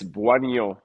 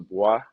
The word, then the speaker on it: Bouagnon: It's Buo. So, you kind of want to pronounce it BWA and then like the end of like so. So, buoy, but if you want